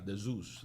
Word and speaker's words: dZeus: Pero en inglés se pronuncia de Zeus.